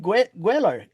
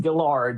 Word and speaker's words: Guellard: Gueller Gueller. Gueller. Well, it's pronounced it's pronounced gillard.